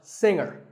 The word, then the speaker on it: singer: G is silent now we say finger we say the G younger again with the G but singer no G and what would you